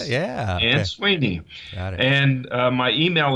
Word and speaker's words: Ansuini: under, and my last name is Ansuini. And that's an unusual name. Ansuini, right? I learned how to say it. Yeah. Ansuini.